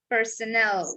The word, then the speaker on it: personnel: works for a company you see the difference in um in the pronunciation here here personal with only n one n the other one is what's personnel with doubles that one used to that one has a and this one has e yes there's difference between